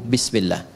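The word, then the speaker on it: بسم الله: Asalnya ini ada alifnya di sini dari kata ismun. Begini. Asalnya bismillah. Dibaca nyambung bismillah. Dan cuma di bismillahirrahmanirrahim alifnya hilang. Wahyu pertama turun apa?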